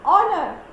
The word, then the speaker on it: honor: Then an honor. Again, H is silent.